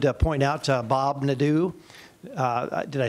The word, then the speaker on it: Nadeau: I wanted to point out to Bob Nadeau. Did I say it right? Pretty close. but. That's better there.